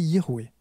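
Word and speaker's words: Yahvé: Alors nous on le prononce Yahé mais c'est pas tout à fait forcément juste. Si on respecte la conjugaison verbale, ça serait Yahé y en Ça serait Youé.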